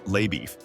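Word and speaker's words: LaBoeuf: the posi is Texas Ranger lauff pronounced Le beef played by Matt Damon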